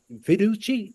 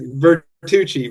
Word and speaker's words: Vertucci: But I have the honor to be in the room with my associate Fiduchi. Am I pronouncing that? I messed your name up. No worries. Vertuchi.